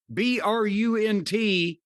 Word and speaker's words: Brunt: BRUNT rhymes with something I won't say.